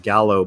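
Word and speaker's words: giallo: Suspiria, if you haven't seen it, it's called Gallo, I think, or Gallo. I think you pronounce it Gallo, but it's a form of filmmaking really popularized back in the 70s and in the 80s.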